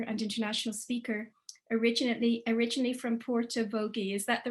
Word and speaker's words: Portavogie: Johnston is an educator, writer, broadcaster, and international speaker, originally from Portavogie. Is that the right pronunciation? Portavogie?